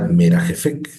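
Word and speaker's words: מרחפת: Aquí diría merajefek, merajefek. ¿Por qué suena como una F?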